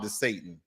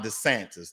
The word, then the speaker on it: DeSantis: Now, let's talk about CRT when it comes to Florida and Ron DeSantis. Oh, excuse me, mispronunciation. Ron DeSantis.